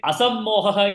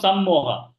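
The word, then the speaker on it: असम्मोह: But when you chanted, you missed it ma. Buddhir Jnanam Asammoha with this Buddhihi Jnanam Asammoha. So you have to be careful with that pronunciation. You missed that ma. It becomes Sammoha. Sammoha means this thing, delusion. Asammoha means absolutely clear.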